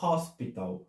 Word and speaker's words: hospital: Mas no inglês esse hospital se fala hospital. Também se escreve com H, mas é o som do H aspirado, da garganta, né?